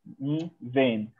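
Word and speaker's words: ⲛⲓⲃⲉⲛ: ني فين هنا اتنطقت ب علشان وراها حرف متحرك، يبقى ني فين هي كل او كل.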